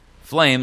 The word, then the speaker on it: Flame: Flame, like flame in a fire.